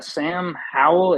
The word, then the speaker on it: Sam Howell: Sam Howell, is that how you say his name?